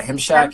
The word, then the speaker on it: Himshack: Yeah, Himshack. He goes, it's like Meshack, but it's spelled, it's just Himshack.